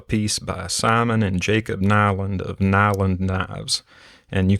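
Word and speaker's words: Nylund: by simon and jacob nyland of nyland knives and you can find them on instagram it's nile in the knives all one word and it's spelled n-y-l-u-n-d knives and the specific one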